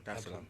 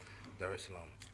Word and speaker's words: Dar es Salaam: of the 7th, to come straight to Tanzania, Dar es Salaam. Did I pronounce that right? Yeah, Dar es Salaam. Okay, cool. Dar es Salaam.